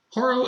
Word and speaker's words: Holo: re-release of horo say spell it Holo are all you want I replace the L with an R that's how it should be hor horo is awesome this figure